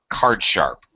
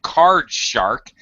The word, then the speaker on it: card sharp: However, over time, since everybody mispronounced it to card shark, now we have the basic idea in English of somebody who's a shark.